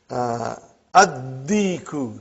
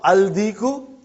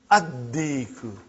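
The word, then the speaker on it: الدِّيكُ: And when you will pronounce them with alif lam, you will not pronounce lam. Okay, look at this, brother. Come to number 3 and go down. Come to number 3 and go down. Addiku, not aldiku.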